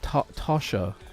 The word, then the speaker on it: Tasha: Yeah, it's yeah, don't they pronounce it more like an O, right? Tasha. The A that's halfway between the O sound and the A sound.